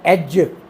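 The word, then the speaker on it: edge: Word आ गया एज, एज, इसमें हम डी साइलेंट कॉन्सोनेंट है, हम सुन नहीं रहे, और साउंड हार्टिंग सिस्टम के हवाले से जितना सुना जाएगा उतना ही लिखा जाएगा।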